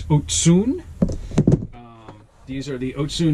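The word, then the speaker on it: Ocún: was a rep and ask them how to pronounce it it's not Okun it's otun um these are the otun sigmas they just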